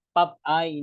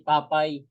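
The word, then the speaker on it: Popeye: Ano po si pap ang pronunciation po pala non Pap eye hindi papay Ewan ko kung may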